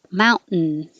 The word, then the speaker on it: mountain: up behind my back teeth and instead of releasing it mount ten and putting it back just don't move it just hold it there mount you're making a noise and that creates its own syllable as a word nerd